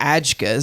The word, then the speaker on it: AJGA: to call them the agas so in case you didn't know that is a j g a if you pronounce that phonetically it's AGA so um we're going